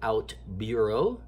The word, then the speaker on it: OutBüro: brand one let me just say it is pronounced out Bureau Bureau with the umlaut which is the two